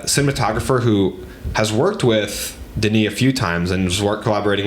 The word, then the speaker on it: Denis: director uh that is Denise and yes his name is pronounced Denise I may have been part of the camp that once thought it was Dennis but uh it says